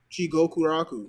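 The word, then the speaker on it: Jigokuraku: Jigoku Raku. Oh, Jiko Kuraku, yeah. It's 2 words. Jigoku's hell, Raku's whatever the fuck.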